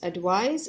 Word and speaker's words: advice: have to remember is advice is pronounced with a said for sound if it is if